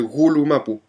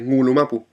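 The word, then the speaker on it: Ngulumapu: la que la gente habla del gulu mapu, claro, porque van escrito con un g y no saben que es ngulu mapu. Entonces, bueno, luego vienen otras personas y le explican que la ng se pronuncia ng, pero luego aparecen entre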